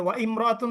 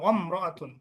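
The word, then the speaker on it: وامرأة: জি, ওয়াও যদি আসে তাহলে ওয়া ইমরাতুন হবে না আলিফটি বাদ যাবে? না, ওয়াল ওয়াল মারআতু, ওয়াম, হ্যাঁ ওয়াল মারুত হবে, ওয়ামরাতুন।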